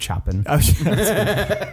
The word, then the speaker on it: Chopin: bear they marry things all have shown it's pronounced Chopin she happen you hear it I school I